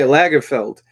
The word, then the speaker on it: Lagerfeld: But then he had, like, the classic Lagerfeld. Am I pronouncing that wrong? Let me look. Yeah, Lagerfeld.